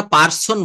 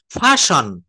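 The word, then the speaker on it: person: আচ্ছা তারপর দেখেন আমরা পার্সন বলি, যে পার্সন বলি না, হ্যাঁ পার্সন পুরুষ, first পার্সন, second পার্সন, ফাশন, ফাশন।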